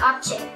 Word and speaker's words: object: object được chưa ạ khi mà object là danh từ chúng ta nhấn vào â tiết đầu tiên ạ object được chưa ạ